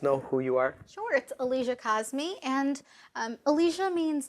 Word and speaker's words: Aliyah Kazmi: guests now I don't want to say your name wrong so could you please let her audience know who you are short Alicia cause me and Alicia means like the highest place in